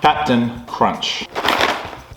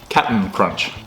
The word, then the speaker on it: Cap'n Crunch: Captain Crunch. Or Captain Cap'n Crunch. Cap'n Crunch. Wouldn't it be C-A-P-T-N? Captain Crunch? Do you say it like that?